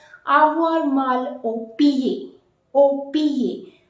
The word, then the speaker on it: pied: Au pied. D is not to be pronounced.